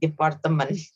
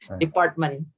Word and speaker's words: department: So there's no E in between T and M. Indonesian tend to add the E, department. Department.